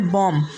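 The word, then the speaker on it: bomb: जैसे पहला वर्ड्स लिम, दूसरा वर्ड है कॉम, तीसरा वर्ड है टॉम और चौथा वर्ड है बॉम्ब, इसके बाद में थम, उसके बाद में क्लाइम।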